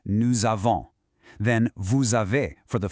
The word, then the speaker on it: nous avons: That is a liaison, and it's pronounced nous avons.